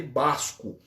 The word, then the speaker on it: Basco: E se escreve com V, de Vasco mesmo, tá? Se escreve com V, mas se lê Basco.